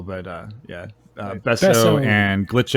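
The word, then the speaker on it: Besso0: we've got besso sorry is it besso o or besso Z or is it just besso B it's spelled besso with the zero at the end as well but uh yeah besso and glitch X City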